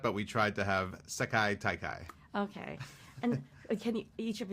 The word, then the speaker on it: Sekai Taikai: You pronounce it Sekai Taikai.